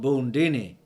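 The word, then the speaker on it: Bundini: is drunk good mm-hmm I'm called boon Deanie rhymes with Houdini he was a Jew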